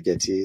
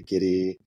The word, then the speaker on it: Gitea: pronounces it differently uh I say gy some people say gidy some say gtia it's all acceptable I I don't mind